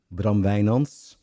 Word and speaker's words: Bram Wijnands: I'm sitting here with my longtime buddy Braum Vayons. I pronounce this in the Dutch way.